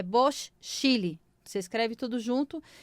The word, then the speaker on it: Bocchile: e Bocchili, B-O-C, Chile. Chile, sabe aquele paizinho compridinho? Então, é Bosch Chile.